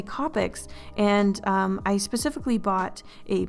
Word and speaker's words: Copic: And before you comment in the comment section, I know it's supposed to be pronounced Copics, but I can't call them that. It sounds so weird and awkward to me. I don't know why. So I'm gonna call them Copics.